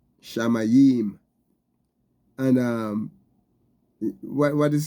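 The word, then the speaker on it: שמים: The word here, Shamayim, is the Hebrew word, and is spelled Shin, Mem, Yod, and Mem, Shamayim.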